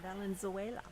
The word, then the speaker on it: Valenzuela: Valenzuela.